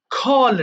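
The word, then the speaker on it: call: খল ডাকা, তাহলে যেখানে ক পাবো সেখানে খয়ের মতো উচ্চারণ করবে, সো এটা হয়ে যাবে কি খল ডাকা, খল, খল্ড, খল্ড।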